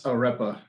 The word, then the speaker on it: arepa: How do you pronounce the bun again? It's arepa.